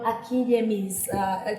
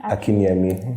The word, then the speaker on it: Akinyemi: Akinyemi. Akinyemi? Yes. So we are good. We're trying. But you said something. No, you said Akinyemi. Akinyemi, yes. Nyemi. Yes. So it's Nyemi, not Yemi.